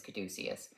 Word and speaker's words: caduceus: The actual saying is caduceus, I believe the Greek pronunciation.